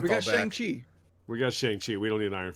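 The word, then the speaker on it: Shang-Chi: qi they've clarified a lot it's it's pretty shangchi all right i'll ask my friend tomorrow he's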